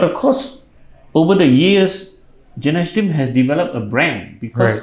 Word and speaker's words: Genashtim: And that time, Gynashteem, people can't pronounce it properly. They call it Genashtim, and most people thought we were an Indian company because of Ganesh and all that kind of stuff.